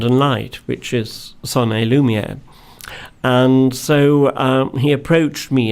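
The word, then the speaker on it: son et lumière: And this is called The Story of a Village, and it's Sonny Lumiere. Yes. Have I pronounced it correctly?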